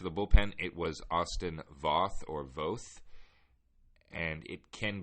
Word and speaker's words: Voth: It was a lot of fun. Both were good, but it's Voth.